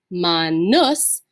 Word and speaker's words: manus: end and it's a short you and it's pronounced ma nus it actually changes the meaning of the word